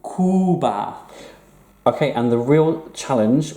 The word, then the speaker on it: Cuba: Lots of English people pronounce this Cuba when they're speaking Spanish. No, U, Cuba.